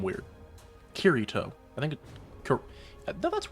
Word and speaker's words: Kirito: I feel like I pronounce his name weird. Kirito.